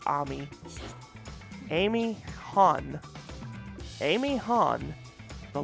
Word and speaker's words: Ami: White Fox, Ami, or Amy, it's pronounced Amy, but I think with an I, you have to pronounce it like Ami.